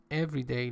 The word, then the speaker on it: everyday: One accepts as part of one's everyday life. Remember, everyday is an adjective here. That's why I just put the stress on the first syllable.